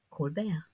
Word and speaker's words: Colbert: the title like rapport to match the pronunciation of his french derived name colbert rapport and report share